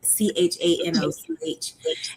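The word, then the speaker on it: חנוך: And when you read it in the Hebrew, it's not even pronounced Enoch. It's pronounced Shanoch, Chanoch.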